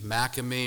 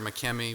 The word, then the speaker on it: Makemie: Well, Francis McKe uh again there's debate how to say his name McMe or Mckmi. We'll just we'll just go with McKimmy uh for here.